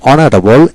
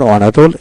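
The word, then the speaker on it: honorable: এইচ বিশিষ্ট সকল ওয়ার্ডের ক্ষেত্রে এ বসে, কেবল অনেস্ট, আওয়ার, অনারেবল, ইয়ার এদের ক্ষেত্রে এন বসে। অর্থাৎ যে সকল ওয়ার্ডের ক্ষেত্রে এইচ উচ্চারিত হয় না অর্থাৎ এইচ এর পরবর্তী অক্ষরে উচ্চারণ হয়ে থাকে সেক্ষেত্রে এন বসে।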